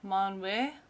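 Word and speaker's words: Manwë: It's pronounced Manwe.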